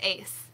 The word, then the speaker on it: Ace: Yeah, I think I kept pronouncing you like Excel. And I was adding the letter to the name. So it's Ace.